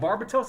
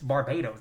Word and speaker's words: Barbados: Uh because whenever I've watched the anime and they were like, "Babbats," I was like, "No, that's not how you say it. It's Barbados.